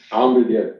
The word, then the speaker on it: Amr Diab: Hey, what we were listening to when we started this Friday Ketchup, I try again to pronounce it correctly. Amr Diab, Amr Diab.